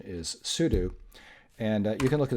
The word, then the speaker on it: sudo: it the end but this is soo do because it's soo whatever that means and then do something okay so like the verb do so the usual pronunciation is soo do and you can look